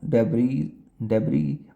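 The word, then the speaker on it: debris: Drone डेबरी also set fire to a fuel depot इन दोनों में एस और T silent है। आपने बस डिपो सुना होगा तो।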